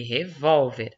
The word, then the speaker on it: revólver: Gente, aqui na 2, nós temos revolver e revólver. Sílaba tônica aqui é o ver e aqui a sílaba tônica é o vol, tá?